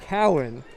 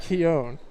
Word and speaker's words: Cowan: So I'm now actually getting information that number 44's name is pronounced Cowan and not Keown.